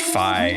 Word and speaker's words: Fi: a couple people like no it's fee it's like man we we looked it up on the wiki it's i mean however you want to pronounce it i've always pronounced it fee but even on a gamespot video the other day that i was watching for all the changes they made it was pronounced phi as well so i think